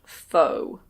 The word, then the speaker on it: faux: This is what we call faux suede. Yes, that word is pronounced "fo". It comes from French.